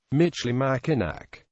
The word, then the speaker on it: Michilimackinac: The French spelled it with the version of the original pronunciation, Michilimackinac.